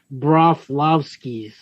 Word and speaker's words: Broflovskis: Hold on, to sound it out. Do it by the syllables. Broflovskis. That's right.